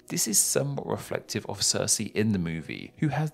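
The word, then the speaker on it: Sersi: her that being cersei different spelling but same pronunciation in fact wikipedia informs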